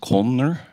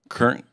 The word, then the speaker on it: Kern: Your last name pronounced Kolner? Kern. Kern. Yeah, maybe. Sorry. Kern. Kern. Yes. Okay. Yes. Just how it's spelled.